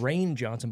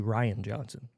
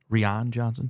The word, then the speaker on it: Rian Johnson: is written by so people call him rain Johnson but it's actually Ryan Johnson Rion Johnson but yeah it's spelled r i okay cool cool do